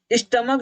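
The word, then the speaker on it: stomach: स्टमक जो एक word है, इस स्टमक में जो है ये सी एच का प्रोनाउंसिएशन क्या है? क है।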